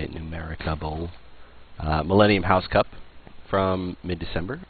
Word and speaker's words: Numericable: That's literally how you say it, Numericable.